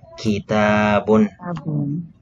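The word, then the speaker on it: كِتَابٌ: So ang dalawang A po dito, dalawang A, ay hindi po natin bibigkasin ng kita-a. Hindi, kita-a po, hindi po. Ang dalawang A po ay nagre-representa po ito ng long vowel. Ibig pong sabihin ay mahaba po ang pagbigkas natin sa kanya.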